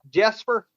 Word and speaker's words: Jesper: Is that the way I say that? Jesper? Is that correct? It's pronounced Jesper.